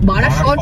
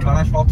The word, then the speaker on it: বারাসাত: বারাসত road, বারাসত নয়, বারাসাত।